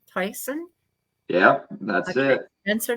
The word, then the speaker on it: Toycen: Um, I need everybody to know this is, I don't know if I'm pronouncing your last name right. Toycen? Toycen? Yep, that's Okay. it. Spencer Toycen.